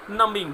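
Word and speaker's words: numbing: Years of mind नमिंग, देखिएगा एम के बाद बी साइलेंट होता है।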